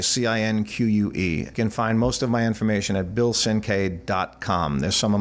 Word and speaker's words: Cinque: The name is hard to spell and hard to pronounce, but it's Cinque, Cinque.